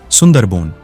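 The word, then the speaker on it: সুন্দরবন: सुंदरवन बांग्ला उच्चारण सुंदरबोन भारत तथा बांग्लादेश में स्थित विश्व का सबसे बड़ा नदी डेल्टा है।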